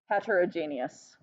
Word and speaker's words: heterogeneous: homogeneous and heterogeneous and if you have problems remembering how to say it it's like the word genius like super smart right uh and so you're